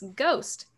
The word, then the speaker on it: ghost: And it's Ghost. Classic. Ghost. Classic. It's got that silent H in there, so watch out for that.